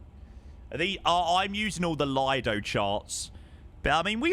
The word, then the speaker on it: Lido: Actually, it's pronounced Leo. It's spelled L I D O. It's Lido.